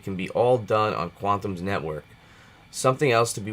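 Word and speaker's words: Qtum: love the blue chip cryptocurrencies quantum is uh pronounced quantum and is far more exciting the secret to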